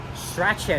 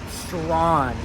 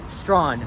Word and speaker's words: Strachan: Behind me is Strachan Avenue. Nope, that's not how you pronounce it. It's pronounced as Strawn, okay? If you're a tourist that's visiting here, just remember, it is Strawn, not Strachan.